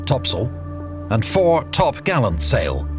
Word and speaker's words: topsail: included the four course four top sale pronounced topsail and four top gallant